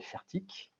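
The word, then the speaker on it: Fairtiq: Et là, typiquement, on travaille aujourd'hui avec une start-up qui s'appelle Fertic. Alors, elle n'est pas française, elle est suisse. Donc, ça s'écrit F-A-I-R-T-I-Q. Et si vous regardez aujourd'hui ce que fait Fertic, c'est une start-up suisse qui, il y a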